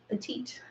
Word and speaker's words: petite: Well, the reason why is because petite is a French word, but we also use it in English. So that's why the pronunciation is a little bit different, petite.